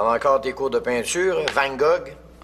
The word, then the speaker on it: Van Gogh: T'en as encore tes cours de peinture, Van Gogh? Van Gogh, pa. Ça se prononce Van Gogh.